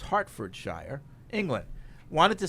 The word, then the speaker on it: Hertfordshire: anthony writes in in hertfordshire pronounced hartfordshire england wanted to say